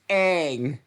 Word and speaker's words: Aang: And you are pronouncing it in the M. Night Shyamalan way. We do not use that name here. It's Aang.